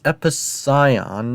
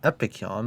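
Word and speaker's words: Epicyon: Also, it's Episcion, not Epicon. But to be fair, it's really um it's really a common misprononunciation of calling Scion Kon.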